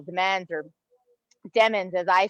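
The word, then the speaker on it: Demens: says that it's pronounced demands the emphasis really should be on the second syllable demands or demons as i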